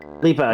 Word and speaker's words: Dua Lipa: Is that how we pronounce her? Lipa, yes, Lipa.